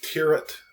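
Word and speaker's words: Thieriot: but he interviewed JP, I think the way you say his last name is Tirrett. I think it's spelled different than that, but it sounds like Tirrett, but I think it's JP Tirrett.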